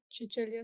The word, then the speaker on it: Cecilia: Um for today's uh knowledge talk we have with us the awesomest ever Chichilia Scolaro. Please correct me if your name pronunciation is very good in great.